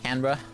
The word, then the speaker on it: Canberra: Canberra.